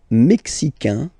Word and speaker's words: mexicain: Le Mexique, mexicain, un here, like we had in américain, A-I-N, mexicain, and then mexicaine.